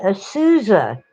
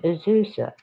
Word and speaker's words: Azusa: they can't do it they call it a souza or azuza they can't manage azusa now there are some